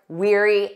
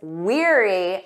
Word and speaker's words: weary: She was weary after her long trip. Did you get that right? Let's review this confusing word pair. We have weary. Listen to that pronunciation. Eerie, like ear.